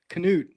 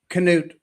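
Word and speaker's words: Knut: Canoot. Apparently that K is not silent. Canoot.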